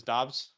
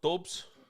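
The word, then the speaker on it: Doubs: ten i go quarterback he wants to pronounce his dobbs dobbs romeo dobes nah we call him dubs i don't care what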